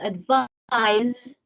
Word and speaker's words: advise: is a noun whereas advise pronounced with a z sound is a verb for